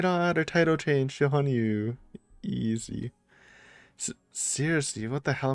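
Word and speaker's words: 羽入: Oh my god, our title changed to Hanyuu.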